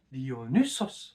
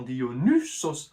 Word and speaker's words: Dionysos: D'où le Y qui est dû au upsilon du grec dans Dionysos, un son qui était plutôt prononcé U à l'époque de Platon, et puis qui a fini par devenir I. En grec moderne, par exemple, c'est I.